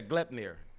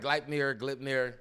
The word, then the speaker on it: Gleipnir: this city, I do not know how to pronounce this, but I'm sure this is it. Yeah, Gleipnir. Okay, I call it Gleipnir.